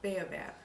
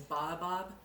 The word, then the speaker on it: Baobab: a little bit about Baobab or I think the the correct pronunciation is Baba Bob there's a tree that